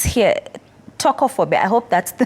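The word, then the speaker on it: Tokophobia: Tocophobia. I hope that's the correct pronunciation. Yes. I didn't actually know there is like legit fear Yeah. of vaginal birth. Tocophobia.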